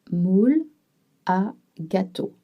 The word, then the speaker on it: moule à gâteau: Un moule à gâteau. But when you pronounce, you will link together oul and a to make moula.